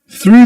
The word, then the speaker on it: through: One of the keys to be able to pronounce the first word is to do this with your lips. Ooh. Push them forwards. You say through. Through. Through. Don't forget about sticking your tongue in between your teeth.